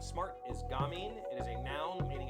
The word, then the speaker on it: gamine: Gamine. Gamine. I have never heard that. That's the pronunciation. I would have said gamine or gamine, but gamine.